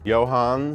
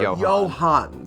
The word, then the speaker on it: Johann: Johans, is that how you say it? Gutenberg. Johann. Singular. Johann, silent The S.